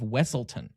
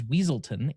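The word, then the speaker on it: Weselton: Did you know Duke Weaselton is voiced by Alan Tudyk, who also voiced the Duke of Wessleton, often mispronounced as Weaselton in Frozen.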